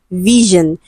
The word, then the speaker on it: vision: So this question is under consonant sound and the word is vision. Okay, so letter S is on the line and it is pronounced or articulated as G. It is a voiced sound.